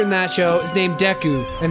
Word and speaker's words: Deku: Main character in that show is named Deku, and it's pronounced like Deku, and it's spelled like Deku.